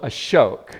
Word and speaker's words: Ashok: name yep yeah so a shoke yeah right just so you all remember it rhymes with Coke and spoke and right just just